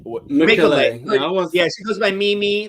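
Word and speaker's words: Mecole: have developed a better connection between Bowie, Red, Mekule, America, myself, and Corey. That would have been my group. Yeah. I'm sorry. Am I Makeaway? Mekule.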